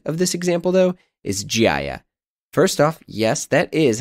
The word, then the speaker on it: GHIAIA: of a hybrid of this example though is gia first off yes that is how you pronounce it but it's this sort of california